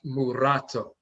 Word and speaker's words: mulatto: Akhan pronounce it as murato, muratoni. Instead of saying mulatto, there's no letter L in Akhan, we say murato.